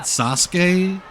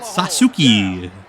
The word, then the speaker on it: Sasuke: up and hard I you remember when great Sasuke debuted on raw's war and Jim Ross only knew the incorrect way he pronounced kinsuk or he pronounced kuki uh so he called him the great sasuki blue sky is the best I believe the